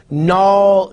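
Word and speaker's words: gnaw: like you have knave, naw, nat, nash. See, I'm pronouncing knave, naw, nat, nash. K is there in knave, but it's not pronounced. G is there in naw, but it's not pronounced.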